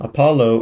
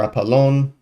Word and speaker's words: Apollon: Um the next after Fina or my bad rather after Phoebe we see the secession to her grandson um Apollo or Apollon to pronounce it more properly who is an Olympian.